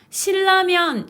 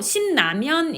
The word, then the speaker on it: 신라면: 한번 끊어서 발음하는 거에요 끊어서 발음하지 않고 쭉 이어서 발음을 하면요 사람에 따라 신라면 이라고 하는 사람도 있고 싶 나면 이라고 하는 사람도 있을 거에요 즉 닐 일로 변화